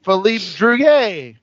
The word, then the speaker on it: Philippe Druillet: really really long time it is uh from Philip drant I think that's how you pronounce it ja is did I get even in the ballpark I'd say Philip Julet I'd say Philip julay say yay ah but it's called the six